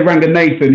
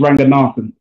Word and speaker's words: Ranganathan: A lot of people on TV say Ranganathan. His family are from Sri Lanka, and the correct pronunciation is Ranganathan.